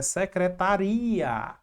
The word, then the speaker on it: secretaria: Já em secretária, aqui em cima, na verdade, é secretaria. Secretaria.